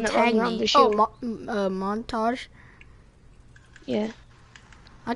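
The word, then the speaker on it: Montagne: How do you actually say his name? Montang. Could that be what you call Monty? Yeah, it also depends on how your accent is.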